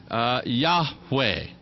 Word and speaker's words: Yahweh: You'll have to forgive my Hebrew pronunciation. I did not go to Hebrew school. Yahweh.